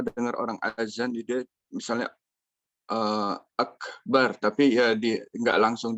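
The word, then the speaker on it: أكبر: Jadi huruf kaf ini dia itu punya dua sifat yang unik ya. Pertama dia tertahan suara. Ya, suaranya tertahan. Kemudian yang kedua, nafasnya mengalir.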